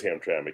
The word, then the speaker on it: Hamtramck: Yes, and by the way, it's Hamtramck. That's how it's pronounced. Have I pronounced it wrong in the past? I forget the way you were saying it, but it wasn't correct. It is Hamtramck.